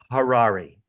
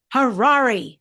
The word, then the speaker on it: Harary: by the way it's Harari Harari har like H like H Harari that's how I remember it's like rhymes with Ferrari and that's how I remember it but Harari just for the record